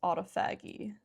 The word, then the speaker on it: autophagy: Things like your cells go into repair mode, which is called autophagy. Guys, I don't know if that's how you pronounce it. Autophagy just sounds wrong. Pronounce autophagy.